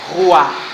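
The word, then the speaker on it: ruach: E a pronúncia é parecida com vento. A pronúncia é assim: Ruar é a palavra hebraica para espírito e vento.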